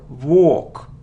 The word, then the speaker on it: walk: it's a long sound or or without L walk walk it isn't Maskull no